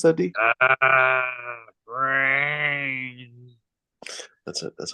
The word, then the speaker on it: Brainz: r a i n z how do you pronounce that D brains that's it that's how you pronounce it uh